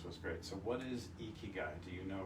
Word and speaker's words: Ikigai: How do you go about pronouncing it? Ikigai. That's what I said. Ikigai. Ikigai.